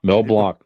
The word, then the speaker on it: Mel Blanc: Mel Blanc.